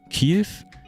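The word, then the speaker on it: Kyiv: Kiev? We're doing the Russian pronunciation. It's Kiev.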